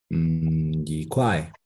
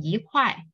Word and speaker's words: 一: So whenever you see before any other words, pay attention to the tones of the second word. Is it first tone, second tone, and third tones? If it's like 1, 2, 3, first, second, and third tone, you just need to change E into four tone.